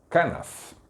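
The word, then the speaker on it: כנף: Kanaf. Kanaf é uma palavra que quer dizer borda ou extremidade, cantos. Ela aparece com diversos significados. Quando essa mulher foi lá e tocou nessa kanaf, nessa região, na verdade, ela estava se apropriando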